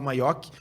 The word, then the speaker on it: Maiochi: Se fala Maiochi, por isso que eu falei que era italiano, mas se escreve Maiochi. CH, tá?